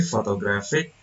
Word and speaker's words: photographic: The suffix "ik" causes stress to move from the first syllable to the syllable preceding the suffix, clearly illustrating stress shifting. So the photograph from the first syllable, it moves to the second and third syllable.